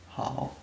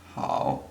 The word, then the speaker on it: 好: Ni is pronounced in the third tone, hao the same, and ma has the fifth tone.